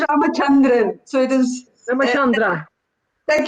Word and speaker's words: Ramachandran: It is Ramachandran.